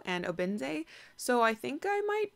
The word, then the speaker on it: Obinze: The narrator pronounced the main character's name is Ifemelu and Obinze, so I think I might try saying it